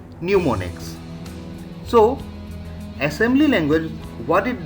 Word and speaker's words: mnemonics: addresses with symbols and mnemonics here m is silent okay so that what will be read as pneumonics so assembly language what